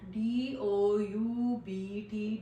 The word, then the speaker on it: doubt: there is also another example of this doubt, D-O-U-B-T, doubt. So we don't pronounce pronounce this word as doubt.